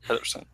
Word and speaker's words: Pedersen: And by the way, that is Pedersen, just like it's spelled, Pedersen.